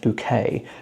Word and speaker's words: Bucket: to mind for me high synth bucket or she likes to pronounce it high synth bouquet because she's all like